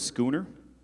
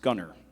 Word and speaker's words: schooner: Gianna, your word is schooner. It could also be pronounced scunner.